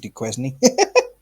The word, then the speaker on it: Duquesne: somebody wait is it is duquesne his last name yeah but it's spelt d-u-k-u-e-s-n-e so i said de quezny differentiate him from kane